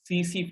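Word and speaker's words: tsetse: The name of that fly is CC fly. We write it TC fly, but T is silent.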